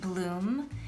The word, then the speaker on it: bloom: pronounced good so here o-o said ooh like bloom and hero o says